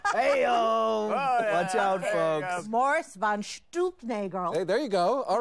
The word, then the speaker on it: von Stuelpnagel: It's pronounced von Stuelpnagel.